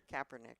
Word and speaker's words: Kaepernick: How do you pronounce the old guy's name? Prior quarterback? Kaepernick.